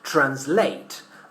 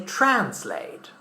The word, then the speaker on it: translate: The verb translate is pronounced with the stress in the last syllable in British English, translate. But in American English, we say translate.